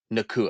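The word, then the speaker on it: Nacua: How do you pronounce his last name? Nakua. Nakua. Puka Nakua.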